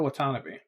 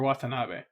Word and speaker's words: Watanabe: you say that surname I always hear like Ken Watanabe the actor's voice name pronounced that way Watanabe so I'm just gonna go with that okay he is an